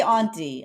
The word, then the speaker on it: aunt: like Auntie like auntie auntie well I say auntie I say auntie but every now and then